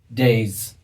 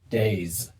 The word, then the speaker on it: days: letter Y like this, the S is pronounced with a Z sound. So again, days, plays.